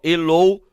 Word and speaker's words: eloquente: Olha aqui, ó, eloquente. Vejam a minha pronúncia, ó, quente. Percebam que o U é pronunciado, tá?